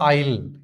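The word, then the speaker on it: aisle: आगे देखिए she moved quite slowly down the आईल किसको क्या बोलते हैं? आईल बोलते हैं। ऐसे में क्या है? साइलेंट है।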